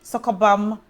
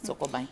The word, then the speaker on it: Sokoban: So Sokobam. Sokobang. Yes, Sokobang. It's not bang. Sokobang.